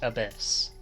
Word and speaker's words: ABIS: Or Abyss. Pronounced Abyss. The Advanced Brain Investigation Squad.